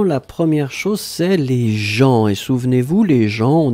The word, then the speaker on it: gens: La première chose, c'est les gens. Et souvenez-vous, les gens, on écrit ça avec un GENS. On ne prononce pas le S final, bien sûr, mais on doit le noter.